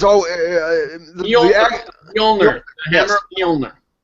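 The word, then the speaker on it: Mjölnir: an O and an l no it's all mner Hammer of mner it's just called mner it's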